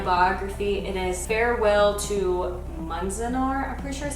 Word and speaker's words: Manzanar: It is Farewell to Manzanar, I'm pretty sure is how you pronounce it.